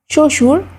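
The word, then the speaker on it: শ্বশুর: বর্ণের উচ্চারণে স্বতন্ত্র আছে শব্দের আদিতে ব ফলার উচ্চারণ হয় না যেমন তক শশুর স্বাধীন শব্দের মধ্যে বা শেষে বফলা যুক্ত হলে সেই ব্যঞ্জনে দ্বিতীয় উচ্চারণ হয়।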